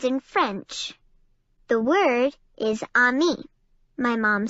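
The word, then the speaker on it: ami: you say friends in French the word is on me my mom says you say it like this on me I love French everything sounds so fancy why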